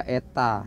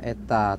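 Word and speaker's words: η: ya lilitan ya baik efisiensi itu dibaca Eta ini bacanya Eta Terangkanlah ya efisiensi transformator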